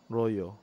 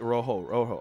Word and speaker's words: rojo: You have to say it like Rojo. I see, Rojo. Draw four. Like when we say Nikteha, it's H, right? Not Nikteja, it's Nikteha.